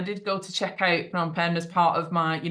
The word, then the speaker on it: Phnom Penh: Very good pronunciation, not a lot of people. Really? Okay. Phnom Penh, yeah.